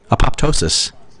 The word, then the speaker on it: apoptosis: known as apopotosis apoptosis apoptosis I think is the way you pronounce that or necrosis respectively so